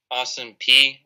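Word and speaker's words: Austin Peay: contender but you gotta look at their schedule austin p that's how you say it army south florida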